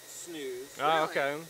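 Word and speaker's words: snus: camel makes that right yeah it's it's actually pronounced snooze in Denmark or Norway or whatever the heck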